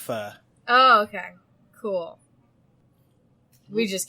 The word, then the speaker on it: pho: Yeah, it's pronounced pho.